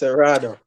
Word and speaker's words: Seratuh: It's Serrato. A lot of people can't say it. Seratuh. Usually Americans find it hard to pronounce it, but they could call me.